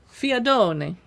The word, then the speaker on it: fiadone: I said that with an Italian accent, but I don't know anything about this. It is, a recipe from a part of Italy called Molise. Okay, so I did say it right.